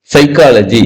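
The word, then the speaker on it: psychology: சைக்காலஜி எஸ்ல ஆரம்பிக்கணும். China சைக்காலஜி, CYSY ஆரம்பிச்சா கூட பரவாயில்ல. அவரோட ஸ்பெல்லிங் தெரியுங்களா? சைக்காலஜிக்கு ஸ்பெல்லிங் தெரியுங்களா? எதுல ஆரம்பிக்கும் சைக்காலஜி? கேட்டா சைலண்டா.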